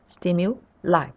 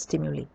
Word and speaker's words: stimuli: form is stimuli stimuli according to the British pronunciation it is stim you like not stimuli so a stimulus is